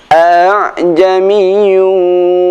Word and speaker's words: a'jamiyyun: Jadi bukan dibaca a'a, bukan dibaca aha, namun a'jamiyyun wa arabiy.